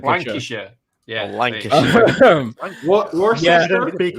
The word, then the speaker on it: Lancashire: Lancashire.